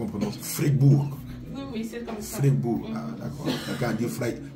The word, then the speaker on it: Freiburg: Maman est-ce que c'est comme ça qu'on prononce Fregourg ? Oui oui c'est comme ça. Fribburg. Ah d'accord. Quelqu'un a dit Freiburg.